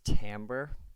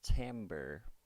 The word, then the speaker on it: timbre: detail talk about is Tambor it looks like this timbre but it's actually pronounced Tambor so Tambor which is